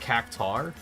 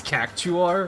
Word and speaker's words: Cactuar: one that was like wait it's not cactar it's cactuar what the but that was more of a my eyes playing tricks on me and I never noticed that the you and the a were in the other direction I thought it was a u r not uar so as soon as